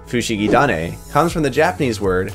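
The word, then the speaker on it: フシギダネ: the first opening arubensha the taha sound from tane becomes a da sound because of a japanese language quirk known as sequential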